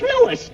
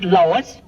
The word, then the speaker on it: Louis: Me name is Louis, not Lois. Gee whiz, everybody interpolates me name wrong. It's Louis.